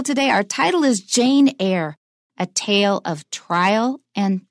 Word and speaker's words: Eyre: It's the last name here is spelled E-Y-R-E. And if I hadn't learned it before, I would have no idea how to pronounce it. It just sounds like air, the air we breathe.